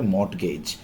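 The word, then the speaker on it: mortgage: ভুল হতে পারে, ইনভেস্টমেন্ট, মর্টগেজ কিন্তু, হ্যাঁ, MORT কিন্তু ওরা কি বলবে মর্টগেজ, আরটা কিন্তু উচ্চারণে থাকছে না, বাট আপনার স্পেলিংয়ে রাখতে হবে।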